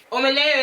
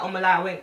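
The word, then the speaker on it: Omolayo: Like, Omalayo is how I like people saying it, but now, obviously, I'm more embedded in my roots and stuff. If you say it properly pronounced, like Omalayo, I won't mind, but I'm more used to hearing Omalayo, basically.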